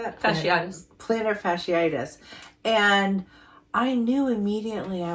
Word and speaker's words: plantar fasciitis: Fanny fasciitis how do you say that especiitis plantar fasciitis and I knew immediately I was like this